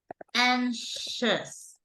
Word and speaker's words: anxious: correct anes notice yes this is a tricky pronunciation okay but basically we say like this anxious you can say like this anxious that is the the correct priation but you know when you're talking about no aners but you're talking about anxiety this is it has a different pronunciation right here will be anxiety anxiety so when you